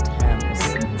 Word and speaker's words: Thames: It looks like Thames, but it's Thames. Thames, not Thames.